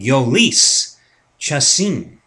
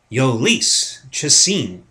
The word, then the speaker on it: Jhoulys Chacin: because he's a pain in the ass to pronounce his name. Ready? Ready for this, guys? It is going to be Jhoulys Chacin. Jhoulys Chacin.